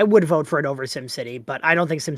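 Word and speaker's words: SimCity: Kim City. Kim City. No, it's pronounced same. Sim City.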